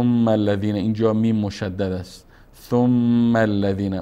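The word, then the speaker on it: ثم الذين: اینجا میم مشدد است ثم الذین مستقیما الف نطق نمیکنیم ثم الذین میریم روی لام که لام هم مشدد است ثم الذین کف کف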